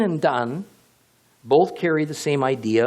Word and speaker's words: dan: Notice the relationship to the word dan, D-A-N. In between the letters dalet and nun, the D and the N, only the vowel sound is changed.